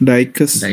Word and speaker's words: Dijkstra: So it's Dijkstra.